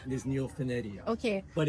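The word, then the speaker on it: Neofinetia: So it's not neopenicia. Neopanetia. Yeah. I used to call it that when I found out the proper pronunciation is neopenedia.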